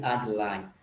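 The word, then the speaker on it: Adelaide: Hai yang ketiga Adlin tulisannya adil lainnya yang bacanya ad like bukan Ade lainnya tapi Adlan itu adalah stop astralia atau disingkat RT ibukotanya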